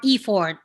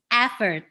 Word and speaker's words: effort: of indonesian not all but most they will pronounce the word e f e-f-o-r-t-s effort or e-ford well actually it's not it's effort so let's listen to google effort effort effort